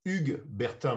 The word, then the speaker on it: Hugues Bertin: french from high school is bjorn rusty so huge burton did i get someone close to pronunciation in french as ugg bertha but it's no it's not pronunciation it's impossible